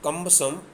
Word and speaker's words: cumbersome: R is silent here. It was much more cumbersome than a single candlestick.